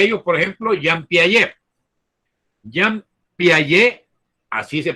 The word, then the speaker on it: Jean Piaget: Jean Piaget, así se pronuncia, aunque uno dice Piaget con la T, ¿verdad?